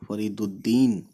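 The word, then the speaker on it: فریدالدین: क्योंकि लाम आ गया अलिफ लाम आता है इसको हम साइलेंट कर देंगे फरी दुद इस दाल प पहुंच जाएंगे फरी दुद इस दाल पे तजी है है ना अलिफ और लाम हमने मिस कर दिया यानी हम स्किप कर देंगे या साइलेंट करेंगे इसको फरीद फिर दाल छोटी ये दी और यह नून दीन फरीदुद्दीन अलिफ जबर अ और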